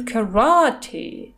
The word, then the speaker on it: karate: Слово karate в английском читается именно так. Это по-русски карате, а они говорят karate, то есть ударение на второе А.